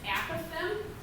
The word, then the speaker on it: apophthegm: Apophthegm.